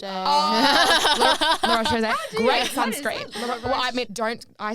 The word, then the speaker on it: La Roche-Posay: How do you pronounce that brand? La Repose-Posay. La Roche-Posay.